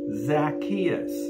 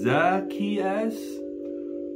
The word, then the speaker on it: Zacchaeus: man named Zacchaeus now some people pronounce his name Zacchaeus I like to pronounce it Zacchaeus some of the experts pronounce it Zacchaeus um now the experts can't seem to agree on the correct pronunciation of his name however the Bible is